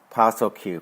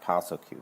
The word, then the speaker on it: PSSLQ: PSSLQ, Postal Q, pronounced Postal Q, basically.